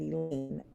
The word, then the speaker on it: Elaine: I may be a timer, but you don't have to be at our school very long to know that Elaine rhymes with pain.